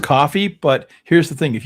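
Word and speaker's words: Ko-fi: Well, it is pronounced coffee.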